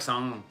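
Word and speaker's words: São: But it's hard to say properly because I just say ng on it like sung, but it's more like song. It's in the nose.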